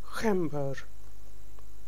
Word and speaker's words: gember: R is with the trill and H is H. Gember. G is pronounced as H. Gember.